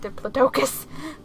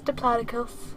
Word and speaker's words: Diplodocus: product aside yeah cuz I I've borne a pronounced Diplodocus it's Diplodocus and cold smoked goose I mean that would